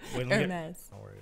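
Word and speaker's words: Hermès: Calling that one that starts with an H, like Hermes or something. But it's Hermes.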